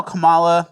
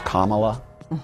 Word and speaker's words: Kamala: And then we have how Kamala is, everyone's saying it's Kamala.